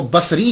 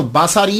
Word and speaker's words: بصری: یاد رکھیے گا کہ جب آپ اس کو تلفظ کریں گے تو باساری نہیں کریں گے، سواد کے اوپر زبر نہیں پڑیں گے۔ اگر آپ نے